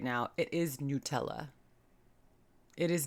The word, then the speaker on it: Nutella: made in Italy and that's how Italians in Italy pronounce it Nutella so I'm schooling you